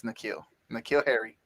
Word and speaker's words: Harry: But go ahead, Harris, guys. It's N'Keal Harry. I say Harris. I don't know why I keep saying Harris. It's Harry. N'Keal Harry.